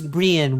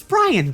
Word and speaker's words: Brian: He pronounces it as Brienne, which I don't know about Liam. That's kind of weird, but you know, this is fine. But his name is Brien. No, it's it's Brian.